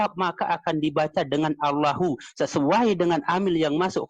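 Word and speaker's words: الله: Coba dilihat di sana tulisannya Allah atau Allahu. Allahu itu kalau kita sambung sebagaimana yang teman saya katakan tadi, Allahu itu kalau ada kalimat sebelumnya kita sambung, tapi kalau kita wakaf berhenti cukup bacanya Allah.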